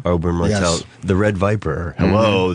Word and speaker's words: Oberyn Martell: Oberyn Martell? Oberyn Martell.